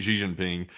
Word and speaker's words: Xi Jinping: I was watching the video that they were showing of the presidential motorcade pulling up in Beijing to meet Xi Jinping. It rhymes, by the way.